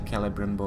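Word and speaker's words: Celebrimbor: So they say Celebrimbo, I tend to go with Cele, because, well, C before E tends to be S for me.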